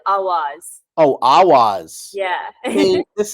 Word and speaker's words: AWAAZ: You can pronounce it Awaz.